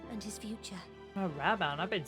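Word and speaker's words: Raubahn: I would seek your counsel I speak of raban and his future a raban I've been saying it wrong all all know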